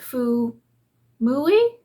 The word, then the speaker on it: Fuumuui: video with this company I think you pronounce it Foo muli perhaps but this is the